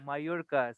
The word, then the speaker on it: Mallorca: But then after my Spanish classes, I could pronounce it because that's how you, there's the way how you pronounce a double L, like Mallorca.